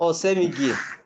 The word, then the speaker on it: Osemwgie: Osemigi. My lord, I humbly appear for the defendant. My lord, Osemigi is spelled Osemwgie.